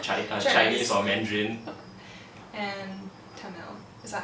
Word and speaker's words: Tamil: And Tamil. Is that how you say it? Tamil, yeah.